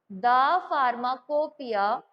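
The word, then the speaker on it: pharmacopoeia: इसमें लिखो द फार्माकोपिया। हमेशा याद रखना फार्माकोपिया की जो स्पेलिंग होगी वो आपकी लास्ट में क्या होगी?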